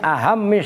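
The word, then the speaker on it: أهمّ: Fa innahu, maka sesungguhnya aklul halal, memakan harta yang halal, min ahammis syaraiti, itu bacanya ahammi dari muhimmah, maknanya penting.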